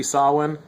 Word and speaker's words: Samhuinn: from what i understand it's supposed to be sawwin who knows let's not argue about